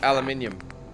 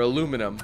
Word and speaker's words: aluminium: To aluminium. Or aluminum, whatever. Aluminium is the original pronunciation.